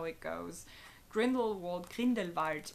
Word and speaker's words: Grindelwald: that's how it goes Grindelwald cleaned invites which is the German Way of pronouncing it my native languages German